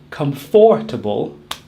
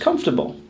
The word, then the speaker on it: comfortable: How many syllables do you think are in the word comfortable? 3 or 4? If you're saying 4, you're not saying it correctly. Comfortable only has 3 syllables, as we drop the middle syllable. We do not say comfortable, just comfortable.